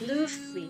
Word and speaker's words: Luffy: not know is how to pronounce his name. It's Yeah, I agree with Luffy. you. It's Luffy.